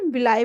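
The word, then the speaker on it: villi: जो finger like structure जो हमें दिख रहे हैं इनको हम क्या बोलते हैं, विलाई बोलते हैं या फिर विली भी बोलते हैं, जो भी हम प्रोनाउंसिएशन करना चाहें, विलाई और विली।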